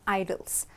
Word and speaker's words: idol: L that's idle so the pronunciation of both are same but the meanings are completely different okay now we're going